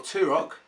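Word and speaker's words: Turok: on the Nintendo 64 tarek or two rock as apparently it's supposed to be pronounced is to some people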